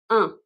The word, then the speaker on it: un: Indéfini, ça sonne comme un. Un, c'est mon article indéfini. Indéfini, un, une, des. Un, une, des. Un avec le son un comme demain. C'est difficile à prononcer comme son en français.